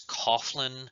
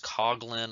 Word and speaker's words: Coughlin: There is Father Charles Coughlin. It might be pronounced Coughlin. I've heard it pronounced two different ways.